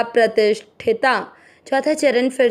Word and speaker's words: प्रतिष्ठिता: फिर प्र, प्रति, मात्रा के अंदर आधा षटकोण वाला ती के साथ करेंगे प्रतिष्ठ, ठ पे ई के मात्रा प्रतिष्ठिता।